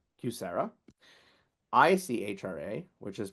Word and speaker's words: QSEHRA: TCJA, QSEHRA, which is pronounced QSERA, ICHRA, which is pronounced